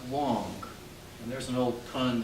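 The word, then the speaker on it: 王: This is a very old Chinese character, and it's the character for king, and it's pronounced Wong.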